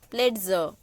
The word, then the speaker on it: Plätze: Here LA, so la. And here LA with two dots, so lay. Plätze.